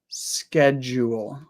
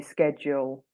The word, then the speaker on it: schedule: just say schedule okay so you make it more jeel jeel whereas I make it more Jewel schedule schedule yeah that that is how I say it though schedule I say schedule so it's kind of there but my my lips don't quite get to W again a bit lazy and a bit shorter of a sound so for Zoe it's